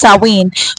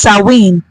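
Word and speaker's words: Samhain: wi yes it's pronounced sa rather saen it's pronounced saen but it is spelled as s a m h a i n but it is pronounced sinen so sin Mark The End of the harvest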